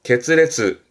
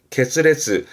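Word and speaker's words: 決裂: 발음은 문레츠, 문레츠. 그리고 이거는 그렇죠. 결자, 결렬 되겠네요. 게츠레츠, 게츠레츠.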